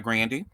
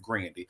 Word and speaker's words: Grande: You know, usually we say Ariana Grande, but she has said that her name is pronounced Grandy.